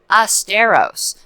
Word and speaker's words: Asteros: sponsor of this program asteros pronounced like fred astaire but spelled a-s-t-e-r-o-s dot com and what